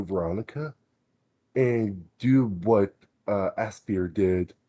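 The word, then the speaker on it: Aspyr: and do what uh Aspir did. Is that how you pronounce the company's name? Aspire. Aspire. Mhm.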